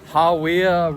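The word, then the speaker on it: Hāwea: So, we got to this Hawya River track. That's how you pronounce it.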